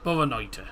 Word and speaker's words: Boa noite: Boa noite. Yep, Boa noite, I believe. Is it? Boa noite. Boa noite. Boa noite. That's it. Yep. Boa noite. That's it. Boa noite.